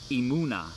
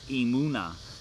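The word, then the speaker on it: emunah: So the Hebrew word for faith is emuna. Hopefully I'm pronouncing that right. I didn't get to hear it before I went live. But it's emuna, emuna, E-M-U-N-A-H, emuna.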